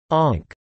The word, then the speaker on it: amharc: In addition to a vocabulary typical of other area of Connacht, one also finds Ulster words like amharc meaning to look, and pronounced onk, ninich painful or sore, druid close, motai here, doili difficult, new, and tigla to be able to, i.e.